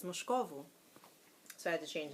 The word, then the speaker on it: Moscovo: It's Moscovo.